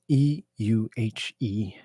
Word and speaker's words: Euhemerism: Conversely, despite its general insufficiency, humorism, Euhemerism, brings to common material impressions the continuity and unity of a remarkable human life.